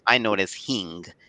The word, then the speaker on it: hing: which is hard to spell and hard to pronounce I know it as Hing h i n g that's what my mom